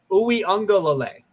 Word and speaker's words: Uiagalelei: in a new starting quarterback, but also DJ Uiagalelei did start a couple games last year in Trevor Lawrence's absence. Wait, can you say that again? DJ Uiagalelei. That's how you pronounce it.